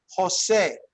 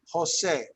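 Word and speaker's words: José: you pronounce someone's name jose okay jose jose right you'd think it was an h but it's actually the j so it's funny the h is silent but the j sounds like an h right that's pretty interesting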